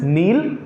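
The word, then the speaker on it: know: नो this is नो this is नो okay again के is silent here okay come to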